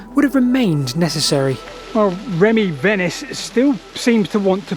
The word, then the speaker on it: Remy Venice: So there's a co-author of this paper, Remy Venice, that's how you pronounce his name.